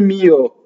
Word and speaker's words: mio: So now mio is a possessive pronoun, and most possessive pronouns have the accent on the first semivowel. Mio, mio. And the O is like a grace note, right? That you just have to add on.